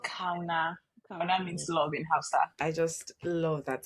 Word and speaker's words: Kauna: Oh, it's called Ka.